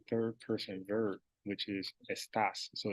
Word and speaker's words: está: You would have to use a third person verb, which is estás. So it's el. No, I said it right. Está. No S. It's el está.